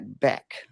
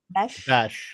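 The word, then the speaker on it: Bech: I am thinking about taking Jack Beck because I need. How do you say it? I'm sorry. Besh, like Besh. E-S-H. I mean, I'm in mid-season form if I'm already mispronouncing people's names.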